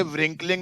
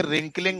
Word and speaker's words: wrinkling: पहली बात तो ये व्रिंकलिंग नहीं होता है, डब्लू साइलेंट होता है, ये रिंकलिंग होता है।